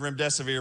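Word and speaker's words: remdesivir: can't remember the word REM desevere because you know it's a it's made up just remember it rhymes with your death is near that's all you have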